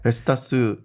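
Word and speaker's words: Vestas: 뭐 베스타스, 웨스테드 뭐 이런 데인 것 같아요. 발음은 정확하지 않습니다. 네. 베스타스 정확하셨고요, 발음.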